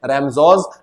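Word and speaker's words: Ramsjö: मिल क्या नाम था रमजो एस साइलेंट है हां तो रेसम सोस नहीं बोलना क्या नाम है रमजो आयन मिल ये नाम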